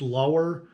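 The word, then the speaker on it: Luer: that you get a I believe it's pronounced lower slip tip it's l-u-e-r and that is the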